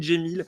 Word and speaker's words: Cemil: bien locale et ben moi je m'appelle jemil mais ça s'écrit mille voix la cccd prénom en fait c'est un prénom qui d'origine arabe donc mais que mais qui s'écrit à la turque voilà et puis mon